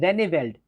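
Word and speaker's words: Rijneveld: अब यहाँ पे आप बोलेंगे ये लास्ट वर्ड क्या है, ये लास्ट वर्ड है रेनेवेल्ड, इसमें आई और जे साइलेंट रहता है, रेनेवेल्ड, ठीक है।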